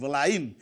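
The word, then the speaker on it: villain: पिला विलियन के बेले कहबनी that is the faulty pronunciation, that is the wrong pronunciation. So the correct pronunciation is विलाइन जाकु तुमे पिला माने कहूछ खलनायक।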